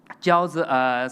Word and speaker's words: Jiaozi: Jiaozi, simply pronounced with dumpling Jiaozi in China, but Jiaozi is a paper money like this.